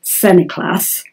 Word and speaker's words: St Nicholas: his 95th year Johnson Nicholas apparently pronounced semi-class but I'll stick with Sir Nicholas for clarity had been rejected from